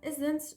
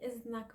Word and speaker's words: إذن: And إذن should be pronounced in modern standard Arabic إذن. But the dal, this heavy letter dal, one of the heavy letters that we don't like to pronounce in our Lebanese dialect, such as dal, qaf, dal, we don't like these. We replace it with za.